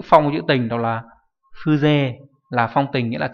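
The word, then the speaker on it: 風情: là Phư trường âm và Jo đâu, mà đọc là Phư, Phư không trường âm đúng nhỉ, Fuze.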